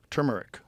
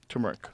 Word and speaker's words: turmeric: Bomb that's the turmeric turmeric how do you say it turmeric I say turmeric turmeric you say turmeric yeah I've heard people say it that way I think they're wrong though I think it's turmeric but I'm just saying